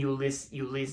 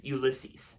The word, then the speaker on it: Ulysses: movie from 2021 and that is flora and euless ulysses yeah there you go i pronounce it right flora and ulysses god okay